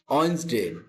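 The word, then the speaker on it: Wednesday: ওয়েডনেসডে উচ্চারণ কি করবা? ওয়েডনেসডে, ডির উচ্চারণ সারে দাও, ঠিক আছে?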